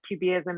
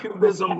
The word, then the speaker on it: QBism: so you said that jubiism is a methodology you got to pronounce it right or i won't answer you it's cubism like like the art art movement okay so you said